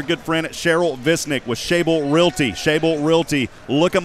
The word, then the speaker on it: Schaible: We want to thank our good friend Cheryl Visnick with Shable Realty. Shable Realty. Look them up on Facebook. It's spelled SCHAIBLE. That's Shable Realty for all of your real estate needs here in Central Texas.